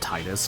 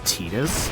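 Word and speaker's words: Tidus: first stream title, like it's pronounced Titus cuz like I think it's so weird that like they officially say it's Tetus, and I'm like I I don't know, man.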